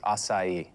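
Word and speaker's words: açaí: I'm having an acai bowl. It's actually pronounced acai.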